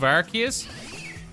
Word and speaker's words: Arceus: And because it's directly inspired by kind of like a human-made clone of Arceus, I think that's a direct reference to how we should pronounce Arceus' name. The RKS system would mean it's based on Arceus, not Arceus.